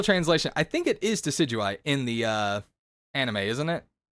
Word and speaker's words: Decidueye: I say Decidueye. It is technically Decidueye, but Fig got it in my head that it can also be pronounced Decadui.